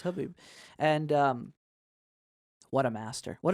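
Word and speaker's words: Khabib: We found out it's pronounced Habib, and what a master!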